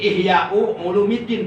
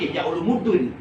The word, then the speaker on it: Ihya'u Ulumuddin: Jadi Ihya'u Ulumuddin bacanya, jangan Ihya Ulumuddin.